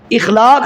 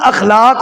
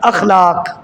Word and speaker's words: اخلاق: اخلاق بڑا اچھا ہے، اخلاق نہیں ہوتا، لفظ اخلاق ہوتا ہے حمزہ کے زبر کے ساتھ، اخلاق۔ بعض کہتے ہیں جو